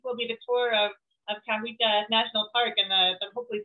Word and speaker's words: Cahuita: It's a national park, and you pronounce the name good. Cahuita, Cahuita.